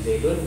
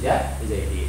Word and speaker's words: zaidin: Bacanya bukan di zaidun, bukan di zaidan, tapi di zaidin.